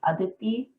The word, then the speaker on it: Aditi: so um i guess the indian way of pronouncing my name is adity um at least in like northern india um my parents and